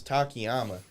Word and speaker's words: Takayama: We're watching Don Fry versus Takayama, and I believe I pronounced that right, Takayama? Yep, you did.